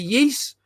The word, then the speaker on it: Ys: big fan of the yeast and that's spelled Ys I know that's the proper way to say it because the last time